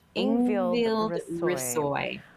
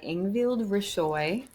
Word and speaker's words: Risøy: So I don't think you pronounce the H. Ingvild Risøy.